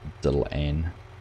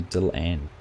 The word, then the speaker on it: Dylan: Prefer HMG or Dylan, pronounced Dylan. See, Dylan, not Dylan. Dylan.